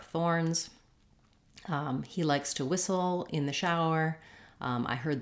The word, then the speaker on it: whistle: is the same and the letters w h just say the sound so again silent letters here we can think about the word wish to help us with this has the same Beginning Sounds I wish for a whistle same thing with first syllable stress along with sound and short reduced Soul whistle once you can say